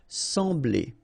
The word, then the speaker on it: sembler: So EM will give you the sound en, okay? So you don't pronounce the M, you just get the sound en. Sembler, sembler, okay? Combination of B and L, bl, bl, sembler, all right?